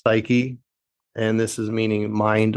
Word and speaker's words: psyche: one being psyche uh not at all spelled like you would think but pronounced psyche and this is meaning